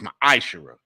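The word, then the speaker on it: מעשר: 1821 Malachi 3 8-10 means 10th in the Hebrew and it's pronounced my ishara a tenth of every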